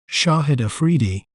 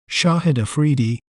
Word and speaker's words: Shahid Afridi: We may pronounce it as Shahid Afridi, Shahid Afridi, Shahid Afridi, Shahid Afridi.